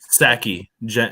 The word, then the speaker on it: Psaki: So just a few days ago, the White House press secretary Jen Psaki, or however the freak you pronounce her name. It's Psaki.